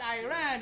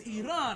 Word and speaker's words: Iran: It is not Iran, it is Iran.